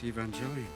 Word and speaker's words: Evangelion: Not to mention, if Williams was such a big fan, why did he mispronounce Evangelion so badly? Neon Genesis Evangelion.